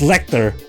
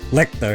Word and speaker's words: Lechter: I'm just lick liquor it's like Hector but replace Hector's name with the L yeah yeah letter Lecter